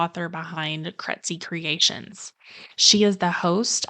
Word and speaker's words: Krejci: here today I'm kety let me start with my last name because I know it's a little bit tricky it's spelled k re e jci i and it rhymes with Betsy so that usually helps